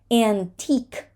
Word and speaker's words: antique: see circuit no circuit antique the QE at the end of a word is very often dropped antique unique